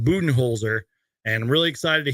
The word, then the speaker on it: Budenholzer: Mike buen holer because that is how you pronounce it I just uploaded a YouTube short about that it's pronounced buen holer and I'm really excited